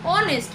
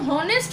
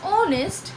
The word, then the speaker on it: honest: অনেস্ট। যদি অনেস্টের উচ্চারণ হনেস্ট হতো তাহলে কিন্তু আমরা অই বলতাম। যেহেতু we pronounce it as honest আর এটা ও দিয়ে উচ্চারণ শুরু হয়, সেই জন্য we put an an before it।